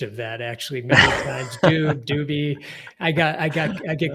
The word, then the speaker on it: Dube: Yes, it's Rob Dube is the way the last name is pronounced.